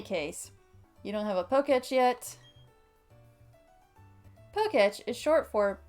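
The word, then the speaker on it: Pokétch: Yeah, I'm going with Poketch. I think that's generally how most people pronounce it. It does make the most sense to me. In any case, you don't have a Poketch yet.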